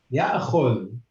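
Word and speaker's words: يأخذ: Like when you have an alif in the middle of a word, okay, and it's got the hamza, you should pronounce the hamza. And here it's a hamza with a sukoon. It's ya'khud.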